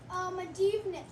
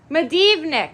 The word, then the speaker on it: Medivnyk: Medivnyk. Medivnyk. I said it wrong earlier. But yes, Medivnyk.